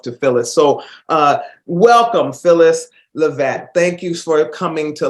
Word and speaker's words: Leavitt: It's Phyllis Leavitt. Leavitt.